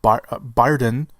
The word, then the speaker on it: Brydon: Reports say that Rob Brydon, that's how you say his name, plays Scotland Yard Inspector Lestrade.